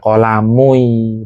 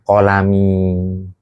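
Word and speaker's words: قلمي: Ketika ini adalah penaku, bacanya itu bukan hadza qolamui, bukan aslinya qolamui. Tapi enggak bisa orang Arab seperti itu. Taurqol berat sehingga apa? Qolami karena bersambung dengan ya mutakalim.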